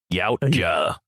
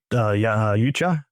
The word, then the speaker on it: Yautja: And when I looked up, I'm like, the closest thing I can think is Yautja. I sort of make the A sort of silent, and Yautja. I think we'll go with Yautja today.